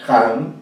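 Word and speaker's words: Hahn: Realmente Óscar Ján es un gran crítico literario, y acá les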